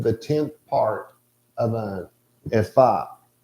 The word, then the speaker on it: ephah: It's a measure of dry things containing the 10th part of an ephah. Or ephah, as I think most people say it. Ephah is how you actually pronounce it.